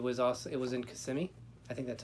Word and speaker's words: Kissimmee: another one it was also it was in Kissimmee I think that's how you say it or kissing me I think is Kissimmee Kissimmee quality quality or